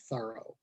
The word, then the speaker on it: Thoreau: think that that's when jean terreaux anglicized his name to john thorough and that was that